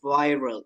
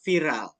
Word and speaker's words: viral: So if you want to pronounce it in English, it should be pronounced viral. It's not viral.